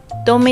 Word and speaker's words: Tome: Dôme is pronounced the same as T-O-M-M-E, dôme, a more widely known term.